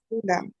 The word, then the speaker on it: أولئك: কেন ওয়াও আছে যে আচ্ছা ওয়াও এর উপরে একটা জিরো আছে তাহলে কি হয় সেটা সাইলেন্ট এটা তাই না silent letter, right? Sorry. আমরা নেক্সট ক্লাসে এটা পড়ে নিব সাইলেন্ট লেটার কি, বাট আপাতত জেনে রাখো সাইলেন্ট লেটারটা আমরা পড়ি না। তাহলে এখানে উ এর পরে লামে চলে যাবে, উলা।